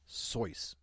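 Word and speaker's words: Seuss: is Theodore so geel it's pronounced soy well did he did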